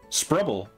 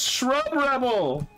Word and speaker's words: Sprubble: That's not an H, that's a P. Oh no. Oh no. I thought it was Shrub Rebel.